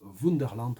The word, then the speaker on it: Wunderland: à l'aller 2021 alors je prononce wunderland parce que ces allemands en fait le titre est un titre allemand ça parle d'un parc